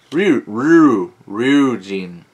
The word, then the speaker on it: Ryujin: Ryujin. I is an E sound.